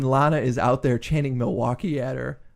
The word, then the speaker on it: Milwaukee: But fucking crowds just chant Milwaukee because there's 3 syllables in it.